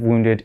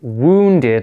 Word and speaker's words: wounded: need to remember that the pronunciation of wounded is wounded like oh like moon and not wounded even though it's got a you okay so when someone